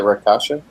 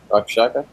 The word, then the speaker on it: Rakshasa: Rakshaka? Rakshasa.